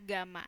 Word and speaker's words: gamma: Ini dibacanya adalah gamma ya, gamma.